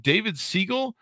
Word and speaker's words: David Siegel: we have today on the show i believe david segal if i ever pronounce uh name pronounced directly david do i